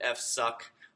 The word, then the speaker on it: fsck: But a lot of people pronounce it FSUCK or other clever pronunciation, maybe not so clever.